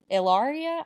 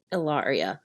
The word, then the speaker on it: Hilaria: Ilaria? I don't know if the H is silent or not. Yeah, I think they say it Ilaria. Like Ilaria. I'm not sure, though. No hard H.